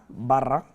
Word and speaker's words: Barra: GM General Motors Mary Barra da Barra roll your R's don't forget if you